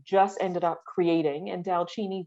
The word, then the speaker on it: DALCINI: me look into so delcini is a word that we just ended up creating and dalchini the word is actually an Indian word that sounds Italian or the pronunciation is Italian and that's because my